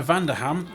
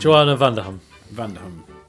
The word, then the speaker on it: Vanderham: Her last name. Vanderham. Joanna Vanderham. Joanna Vanderham. Joanna Vanderham as Blanche. Yes. It's like when I say Birmingham. It's like Birmingham.